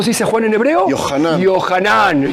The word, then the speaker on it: Yohanan: nombre Juan Cómo se dice Juan en hebreo johanan yohanan muy bien algú yanan que él va él